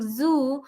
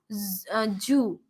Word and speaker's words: zoo: Yeah, and we generally Z makes a sound of Z, and we pronounce it as G rather than saying zoo. We call it as Jew, right?